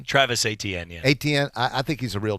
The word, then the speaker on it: Etienne: do you say his name Travis Etienne yes Etienne I think he's a real deal I think